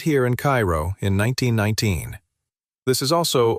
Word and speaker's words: Cairo: Down in the deep south of Georgia, near the Florida line, sits the warm little farming town of Cairo, pronounced Cairo by the locals.